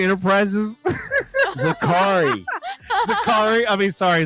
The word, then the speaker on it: Zakri: If And just FYI, Zachary Enterprises, Zakari.